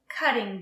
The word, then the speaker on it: cutting: a cutting board and again the two T's sound like a d cutting board now let's talk about